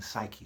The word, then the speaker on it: psyche: of my wordplay, okay, the P is silent in psyche.